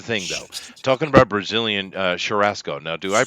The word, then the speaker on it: churrasco: Talking about Brazilian churrasco. Now, do I pronounce this correctly, Ghost?